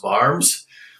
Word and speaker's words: Worms: and they spell it spelled worms but it's pronounced barms i know that because it says it here